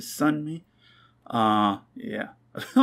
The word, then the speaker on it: Sunmi: wrong this whole time i always say sun mate but is it sun me uh yeah i feel